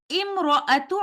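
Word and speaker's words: امرأت: recite it like this, imra'atu imrana. And upon stopping, I will say it like this, imra'at.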